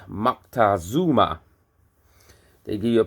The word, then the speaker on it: Moctezuma: They give you a pronunciation for Montezuma, which is Moctezuma.